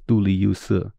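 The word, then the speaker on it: 都利聿斯: Well, we pronounce those Chinese characters now as Duli Yusi, but in Middle Persian, it would have been pronounced differently.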